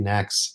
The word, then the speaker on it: NACS: Oh, is that how it's pronounced? NACS? I mean, Fred and I have been doing NACS, so Okay, well, I'll follow you guys then.